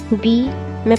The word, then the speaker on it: बाम: एल एम है बट बी मैं pronounce कर रही हूं बी ए एंड एम एल को हम नहीं उठाएंगे क्योंकि मैं बाम बोल रही हूं ना एल हमारा साइलेंट होता है बी इज नाइन एंड